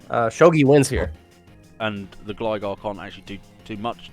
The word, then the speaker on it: Gligar: Yeah, Gligar is the right way to say it.